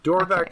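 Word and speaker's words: Dorvack: Dorvac is the show. Or at least that's how I pronounce it.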